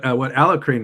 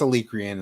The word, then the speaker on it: Alicrane: But yeah, what Alacrane was saying, I'm not sure how to pronounce his name. David. It's Chris's. It's Alicrane is how he pronounces it.